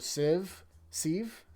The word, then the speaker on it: sieve: I think it's sieve. Because, like, sift, you know what I mean?